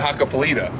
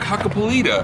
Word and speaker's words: Hakkapeliitta: in California and I'm like, oh yeah, Nokian Hakkapeliitta. And they're like, what did you just say? Huh? And I was like, Hakkapeliitta.